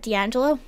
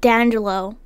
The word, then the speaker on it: D'Angelo: his name is d'angelo d angelo it's not dandelo or else it would be one word or one name like there would be no little what's that called comma no a hyphen no apostrophe i'm too tired for